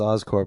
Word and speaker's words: Oscorp: Would you pronounce it Oscorp or Oscorp? That's Oscorp because it's short because it's a short for corporation.